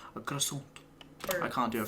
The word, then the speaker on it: croissant: I pronounce this croissant, which I just say croissant.